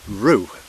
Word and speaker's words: Rhiw: of any size, which I think is pronounced Rhiw. I think it's spelled R-H-I-W, so I might be something like right.